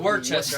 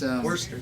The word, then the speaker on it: Worcester: Because I always butcher the name. It's not Worcester. I know it's not that, right? But Worcester or It's Worcester.